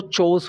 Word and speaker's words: chores: लेकिन जो हम इसको जर्नलिस्ट की जो प्रोनाउंसिएशन होती है वो चोस होती है। र की जो आवाज़ होती है ना, र की आवाज़ नहीं आती है, चोस, ठीक है।